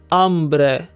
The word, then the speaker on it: hambre: Remember that the h is silent. Agua, área, hambre. All of these begin with a stressed a sound.